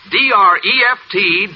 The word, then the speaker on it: Dreft: I'll spell it. D-R-E-F-T, Dreft.